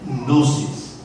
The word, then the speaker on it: gnosis: La virtud, el tipo de conocimiento que hay que añadirle a la virtud es la palabra gnosis, con G al principio, pero no la puedo pronunciar. Gnosis, ¿verdad?